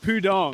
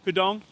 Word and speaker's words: Pudong: We are in the heart of Puong. Is that how you pronounce it? Pudong.